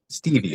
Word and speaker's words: Stieve: Stevie.